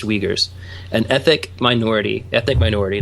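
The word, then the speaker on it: Uyghurs: are we girls spelled you why GH urs pronounced wiegers an ethic minority ethnic minority that's persecuted throughout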